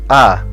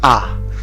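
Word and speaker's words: あ: them one by one this is ah it's the equivalent of the vowel a in english you pronounce this is ah let's practice writing it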